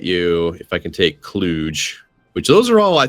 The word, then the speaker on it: Cluj: Cluj is the correct pronunciation of that name.